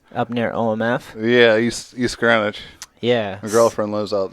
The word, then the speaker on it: Greenwich: Yeah, I say Greenwich because, like, you know, That's how it's you spelled. sounded. Yeah, Yeah. exactly. You sound out how it's spelled. This is Greenwich. But it's Greenwich. It's Greenwich.